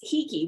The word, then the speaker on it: Hiki: It's spelled Hiki, and it's Hiki, which is the Hawaiian word for able.